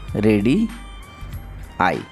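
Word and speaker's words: radii: अब देखो, इसको हम कैसे रीड करते हैं? रेडी आई, ऐसा प्रोनाउंस हमें करना है इसे। रेडी आई ऐसा बोला पढ़ा जाता है।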